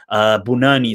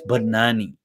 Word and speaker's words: Banani: First of all, it's not Bunani, it's Banani.